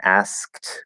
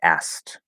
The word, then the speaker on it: asked: rule is that usually when we have three consonant sounds together english doesn't generally like that and so as long as one of them is not supposed to normally be silent like the full pronunciation has all three sounds the middle sound will disappear okay and this is an example of that so instead of saying asked we'll just say asked so we keep that